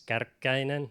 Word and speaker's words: Kärkkäinen: If you're adventurous, it's Kärkkäinen, the proper pronunciation.